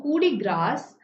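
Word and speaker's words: coup de grâce: So coup de grace. So here the French pronounce grace as grass.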